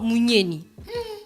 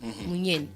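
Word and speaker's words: Mugneni: Dans ce cas, on passe alors à la troisième phase, qui est celle de la fourmi ou encore Munyeni. M-U-G-N-E-N-I. Munyeni. J'ai bien prononcé.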